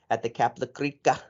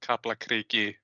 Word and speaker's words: Kaplakriki: So FAO getting a win at home at the Kaplakrika. Did I say it right? Yeah, it's just Icelandic is weird with all these conjugations. So like in theory, it's at Kaplakriki.